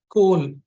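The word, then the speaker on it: Kolb: this gentleman called David Cole or David Cole the B is silent an American educationist came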